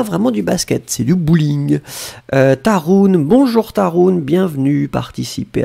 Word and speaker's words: bowling: Alors les Français écrivent comme en anglais, mais ils prononcent bowling.